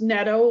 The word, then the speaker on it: Netto: So that's me, Netto. So it's pronounced Netto, like meadow with an M, Meadow with an N in front of it.